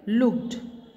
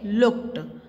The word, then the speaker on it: looked: Example like looked. Okay, LOOKE. K आया है here. K is given here, and after K, what is written? ED. So it will considered as T sound. Okay, looked, but we pronounce is looked.